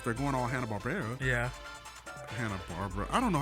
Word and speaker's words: Hanna-Barbera: Hanna-Barbera. I don't know how to say it. Hanna-Barbera.